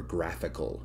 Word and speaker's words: GraphiQL: around at your api a thing called graphic ql or graphical if you want to pronounce it that way one all